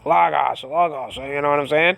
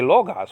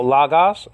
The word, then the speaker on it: logos: ah faos you know lagos some people even say logos what's that there's no omega there okay if you're checking out the checking it out via the um standard pronunciation you know lagos i mean you don't see any low gas there you don't see any omega there i mean we all